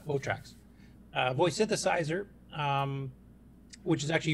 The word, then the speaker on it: Votrax: Here, Carlos actually published a little video on Facebook showing off the old Votrax, or is it Voltrax, or how do you pronounce that? Votrax, yeah. Votrax.